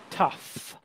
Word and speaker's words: tough: All right, so tough.